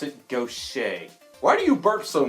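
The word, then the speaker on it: Gautier: five three and guess that is how you pronounce no say it does not doubt tier it does not go tight here it is go say or don't check if you really want to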